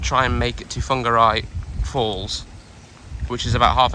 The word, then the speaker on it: Whangarei: get it to uh funguru Christine's referring to my horrendous pronunciation of a place in New Zealand where we're staying called whangarei but I keep calling it we might try and